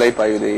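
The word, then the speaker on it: Alaipayuthey: a Mani Ratnam film, and I'm scared to pronounce it, so you're going to have... It's called Alai Payude, yeah.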